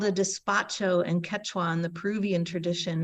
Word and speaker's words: despacho: the soup as much as I like that it's spelled D like dog e-s-p-a-c-h-o despacho think of it as a dispatch of blessings